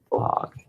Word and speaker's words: quahog: We're going to go down here, insert a text box, and write quahog.